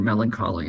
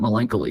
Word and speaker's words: melancholy: Yeah, I remember reading Ray Bradbury's Medicine for Melancholy, and I pronounced it melancholy because I'd never seen the word before. And so when he said melancholy, I thought, it's not melancholy?